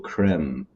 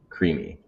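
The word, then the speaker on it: creemee: Um, something that's funny is some people read this and they'll say maple creme. Maple creme. And it's Oh gosh, this like camera is messing me up. And it's it's spelled phonetically creamy.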